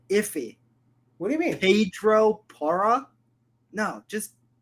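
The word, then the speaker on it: Pedro Porro: signed Pedro porra what how do you pronounce what is it just say Pedro poro why did you like why'd you make it like a little bit iffy what do you mean Pedro Para no just say it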